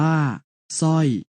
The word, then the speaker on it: สร้อย: เริ่ม จาก คำ ที่ ออก เสียง พยัญชนะ ตัว หน้า เพียง ตัว เดียว เช่น คำ ว่า สร้อย สร้อย อ่าน ว่า สร้อย สร้าง สร้าง อ่าน ว่า